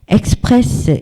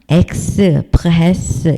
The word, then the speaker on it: express: 남성명사로도 쓰이는 단어가 있는데 express 이렇게 되어 있어요. 요거는 끝에 s까지 다 발음을 해요. 이건 발음기어니까 express 이렇게.